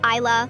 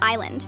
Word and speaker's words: Isla: Isla, like I can see the beautiful island.